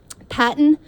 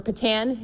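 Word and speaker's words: PaTTAN: Patton or Patan, it can be pronounced depending on where you are from in the state of Pennsylvania.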